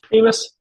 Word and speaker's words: Ameis: Did I say it right? Amos, yep, you got it.